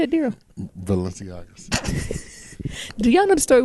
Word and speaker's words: Balenciagas: Balenciagas.